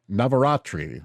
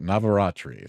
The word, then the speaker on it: Navaratri: Navaratri is how you say it. Navaratri.